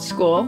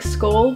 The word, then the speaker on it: Skuall: from the brand called school i think you pronounce it like skull but i'm not 100 positive but this is a